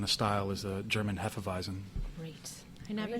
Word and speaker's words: Hefeweizen: style is the German Hefeweizen. Great. I never say Hefeweizen, right? Hefeweizen. You kind of have to get the German accent in there just to pronounce it, but Yeah.